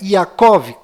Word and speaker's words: Yaakov: mudo no final, e Jacó, que na verdade é Yaakov, com V mudo no final e a letra Y no lugar do J.